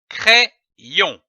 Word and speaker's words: crayon: Lorsque l'Y est placé entre deux voyelles, il se prononce comme un double I. I. C-R-A plus Y donne la syllabe cré. C-R-A-Y, cré. Ajoutons la syllabe on, O-N, on. L'association de ces deux syllabes donne le mot crayon.